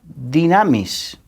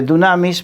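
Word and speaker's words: δύναμις: Nuevo Testamento, por ejemplo, se escribe dunamis, pero la U se pronuncia como I, entonces Dinamis.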